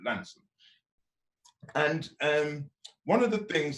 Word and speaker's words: Launceston: And in fact, the farm is on the Devon-Cornwall border near a place called Launceston, or as they say down there, Lanston. You've got to pronounce it Lanston.